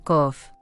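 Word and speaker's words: קוף: simbólico de la parte posterior del cráneo op pronunciado kof 10 es la mano el yod y el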